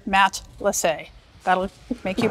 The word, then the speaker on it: Matelassé: Matelassé. A friend of ours said, I think of it as a Canadian hockey player, Matelassé.